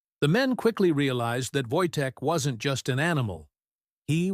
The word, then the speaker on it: Wojtek: They named him Voytech, pronounced Voytech, meaning the joyful warrior.